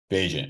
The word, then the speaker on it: Bagent: Bagent.